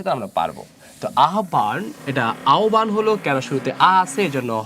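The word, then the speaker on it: আহ্বান: যদি এগুলো আসে তাহলে আমরা পারব আহবান এটা আওবান হল কেন শুরুতে আছে এজন্য হটা হয়ে যাবে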